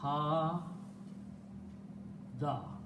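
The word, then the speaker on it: هَادَ: So in the pronunciation, we pronounce this as an alif. So this word is becoming ha da.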